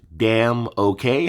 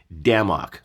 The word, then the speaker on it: Damok: When I first met him, I thought it was damn okay. Like, I didn't know how to say it. And he was like, Damok, like Ragnarok.